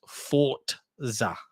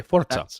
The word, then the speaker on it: Forza: to know it's pronounced Forza. So there you go. Yeah, Forza. That's how it's pronounced in Italian.